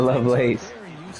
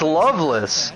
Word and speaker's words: Lovelace: How is it not Lovelace? It's Loveless. Are you... Okay. Nah. Who says it's Loveless? I mean, maybe I'm from the... maybe I'm sure Drunk will say it's Loveless. Maybe I'm foreign and I pronounce it Lovelace. Okay, well, you're not foreign. So... No, it's not debatable. It's not debatable. Loveless? Yeah, Loveless. Yes.